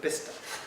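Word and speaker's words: Bicester: it's spelt b-i-c-e-s-c-e-s-t-e-r uh people who live in that area called bista best busted there's yes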